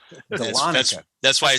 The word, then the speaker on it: Dahlonega: nobody can pronounce. Dahlonega.